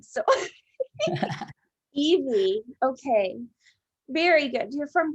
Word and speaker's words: Ivie: brazil yes and then in brazil we say evie evie but um here everybody says like ivy rain and that's okay no problem well i don't want to butcher your name so evie okay very good you're